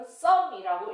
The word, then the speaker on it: some: 자, 여기서요, some은요, 여기 규칙을 따르지 않아요. 장모음의 규칙은, 자, 이로 끝나면 o로 소리 나야 되죠. 그 규칙을 따르지 않아요. 이거는 some이라고 읽어요. 이렇게 규칙을 안 따르는 단어들이 포함되어 있기 때문에 규칙을 더 찾아주셔야 돼요.